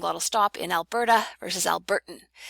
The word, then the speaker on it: Alberta: So we see a difference between using flap and glottal stop in Alberta versus Albertan. Alberta, with that nice almost D sounding flap at the end, Alberta, as opposed to